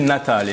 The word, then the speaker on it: Natale: Ça se dit Natale.